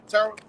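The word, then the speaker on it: Terah: house that's how you say his name yeah Terra all right he separated him from his uh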